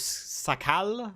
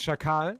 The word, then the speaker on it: Shakal: I think it was Sakal. I can't pronounce his name, but he drove on Cap a couple of times. Yeah, it's Shakal, our general chief in command, commander-in-chief, I think.